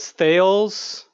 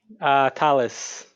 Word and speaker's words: Thales: and in English so uber drivers pronounce it as sales some people in Starbucks pronounce it as staleys but I've I've heard all sorts of variations so I'm not bothered by any of them anymore but professionally you use the actual pronunciation of your name as Folies I would imagine Tallis you do Tallis okay there we go perfect so that's that's what